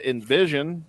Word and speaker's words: NVSN: Welcome to Alex Vox to the show from the band Envision, which is spelled NVSN, which we talked about for a minute.